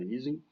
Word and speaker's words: Ising: Da pronúncia é Eising, mas todo mundo pronuncia Ising, enfim.